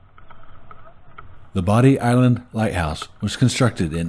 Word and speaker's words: Bodie: had thought the name of the lighthouse was pronounced Bodie Lighthouse. However, after doing some research for this video, I discovered it is actually pronounced Bodie Lighthouse.